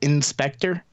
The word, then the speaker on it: InSpectre: Has a program called Inspector, which is I think pretty clever actually. It's INSPECTRE, so it's spelled like the Spectre flaw.